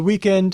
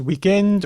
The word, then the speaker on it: weekend: There is indeed no native French word for weekend other than the English word, which is pronounced weekend or even weekend. There's that omitting the final consonant thing.